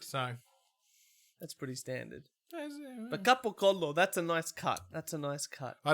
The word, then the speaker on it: capocollo: collection of clips of them saying capocollo. Yeah. And they're like gabagoo. I'm like, that's not how you say it. That's real terrible. That's like, but that's the Sicilian way.